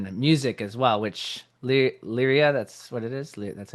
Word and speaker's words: Lyria: And so the only outside thing is our screenwriting and but then the music as well, which Lyria, that's what it is.